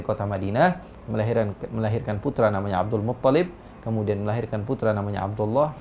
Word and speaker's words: Abdul Muttalib: Ingat teman-teman Nabawi, Abdul Muttalib. Tajdidnya di ta bukan di lam. Iya. Ya. Kita banyak yang salah Abdul Muttalib.